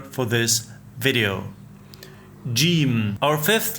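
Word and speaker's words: جيم: The articulation point of jim is the middle of the tongue against the hard palate, the middle part of your roof of your mouth. When you pronounce jim, your tongue should rise and touch the hard palate.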